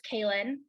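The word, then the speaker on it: Kailin: um my Instagram nurse Kalyn my name is spelled k-a-i-l-i-n there's no T in there just so you know thank you for that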